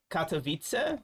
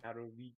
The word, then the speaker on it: Katowice: And that's why I say Katowice. Why you say Katowice? Like the C is like a T in Polish. So Krakow. The W's are V's, by the way. Katowice.